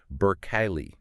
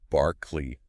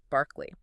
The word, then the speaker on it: Berkeley: Because if you are listening to this in America and especially in California, you're probably thinking of the famous university city Burke Kylie, right?